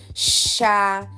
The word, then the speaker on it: chá: Chá. X, Xi, Xo, Xu. Vamos ler algumas palavras. Se juntarmos o som sh do ch com a vogal a, vamos ter chá.